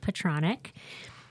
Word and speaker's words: Petronik: I have Beth Capestrain and Petronik. She taught me how to say her last name right before we got on. It's It rhymes with electronic, so we got it right.